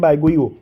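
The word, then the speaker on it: Baguio: इस साइड हो गया, तो फिलीपींस में इसको कहते हैं बैगोईओ, ठीक है।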